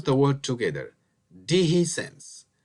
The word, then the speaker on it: dehiscence: these include infection and separation which is called deihi sense let's pronounce the word together deihi sense it's called own separation there is the doctor